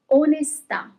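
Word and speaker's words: onestà: Onesta. And the second word with no accent is onesta. Onesta, onesta. Okay, so there is a little bit more emphasis on the last letter where there is the accent.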